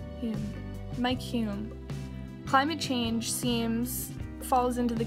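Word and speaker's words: Mike Hulme: For Mike Hume, that's how you pronounce his name, Mike Hume, climate change falls into the category of issues which are best dealt within the context of PNS.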